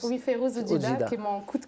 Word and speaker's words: Férouz Oudjida: C'est Férouz Oudjida, oui, c'est comme ça qu'on le prononce. Oui, Férouz Oudjida, qui est mon coup de cœur.